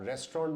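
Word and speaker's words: restaurant: अगर आपने इसको रेस्टोरेंट बोला तो वो प्रोनाउंसिएशन, वो उच्चारण भी गलत है। जैसा कि मैंने पहले बोला था, अगर आप रेस्टोरेंट में जाते हैं, रेस्टोरेंट, वो इसका सही उच्चारण है।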